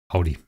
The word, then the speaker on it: Audi: could park everywhere um Germans Audi that's the way it's pronounced Audi uh so what does